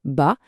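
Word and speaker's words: 八: En Chine, la prononciation du chiffre 8, ba, est super proche de celle du mot fortune.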